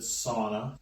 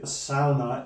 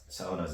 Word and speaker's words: sauna: it is pronounced yeah it's exactly the way uh Dutch people would actually pronounce it because a u makes